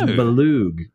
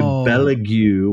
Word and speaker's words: Belug: So his name is Belug. Belug, as opposed to Belugue, which I know that I have called the wrong name for a really long time.